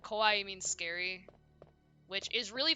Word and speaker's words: kawaii: okay um so yeah cute is Kawaii with like two eyes but Co is um is scary Kawai yeah I think you're